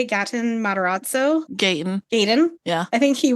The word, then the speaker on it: Gaten: Is it Gatton? Is that how you say it? Gatton Matarazzo? Gaten.